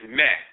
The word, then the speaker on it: Maa: But then we show in ancient Kemet the term Ma'a, pronounced in the Coptic dialect, is Meh.